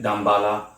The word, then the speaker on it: Damballah: But when I pronounce it, Damballah, it's like I pronounce it with the H.